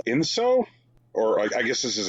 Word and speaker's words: enso: because the word that they're going for is ENSO, and they say is circular form in Japanese. How would you pronounce that?